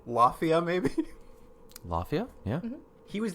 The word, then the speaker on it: Lafia: gonna try it again it spelled like Mafia but with an l so Lafia Maybe Lafia yeah he